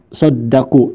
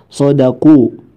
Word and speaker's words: صدقوا: Selanjutnya Brotos mengucapkan saddaku, dalnya memakai tasdid, padahal da tidak pakai tasdid. Jadi dibacanya sadaqu ma ahadullah. Sadaqu.